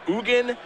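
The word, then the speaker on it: Ugin: want whatever you want salgar slimeer how you pronounce Ugan it's just Ugan that one's easy Eugene Eugene the spirit dragon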